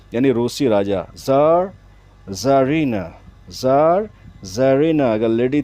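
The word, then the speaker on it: czar: king था past में पुराने जमाने में उसको जार कहते थे टाइटल दिया था रशियन किंग को यानी रोसी राजा जरीना जार जरीना अगर लेडी थी तो उसको बोलते थे रोसी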